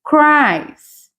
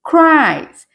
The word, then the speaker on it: cries: Então, repara aqui que esse E na pronúncia não é pronunciado. Então, ó, he cries. He cries.